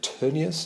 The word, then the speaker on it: Tönnies: something Max Weber and Ferdinand Tönnies, who was Tönnies, I think you should pronounce it, who was a German sociologist whose terms Weber was actually picking up on and expanding.